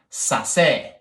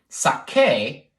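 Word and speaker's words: saqué: That word is pronounced sase. Like, ooh, this spaghetti is very sase. So in order to get the k sound, sake, we need to use qu.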